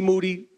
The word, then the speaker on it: Moody: is my partner Moody Moody last name I always have to remind people rhymes with Duty yes um we've been